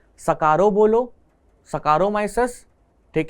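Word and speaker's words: Saccharomyces: नहीं, जिस तरीके से आप प्रोनाउंस कर रहे हैं उसी तरीके से आपको स्पेलिंग याद करनी पड़ेगी। मैं इसको सैकारोमाइसिस या सैकारोमाइसिस से याद रखता हूं, क्योंकि सैक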